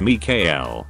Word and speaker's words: Mikael: His name was Mikael, pronounced Mikael. We got him and 1 month old, and he lived with us until he was almost two.